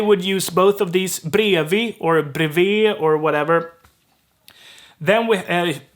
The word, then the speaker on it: bredvid: We have bredvid, which it sounds super weird to pronounce it like that. Bredvid. It's brevi. Brevi or brevet. It's super weirdly reduced, but it's brevet.